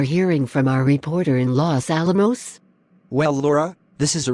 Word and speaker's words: Los Alamos: Okay, it is pronounced Los Alamos.